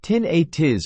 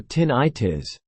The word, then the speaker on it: tinnitus: covered in another video tinitus can be pronounced two ways the first be tin atis or tin itis tinis is the medical